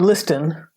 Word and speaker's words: listen: This never happens with all the other words with a silent T. This rule only applies to the word often. Nobody ever says castle or listen, and you shouldn't, because if you do, it will be a mistake.